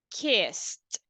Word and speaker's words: kissed: We say kissed, kissed. So basically we say like a letter T sound, kissed.